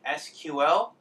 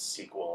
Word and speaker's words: SQL: about this discussion and if you pronounce it SQL it's okay yes but it is sequel like this generally there are products